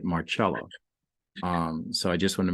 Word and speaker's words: Marcella: And for those of you that are looking up Marcella, when you look at it, it looks like Marcella, Marccella, but she pronounces it Marcella.